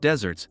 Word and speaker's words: deserts: deserved reward or punishment which is spelled like the Arid land but pronounced like the sweet treat this felt good just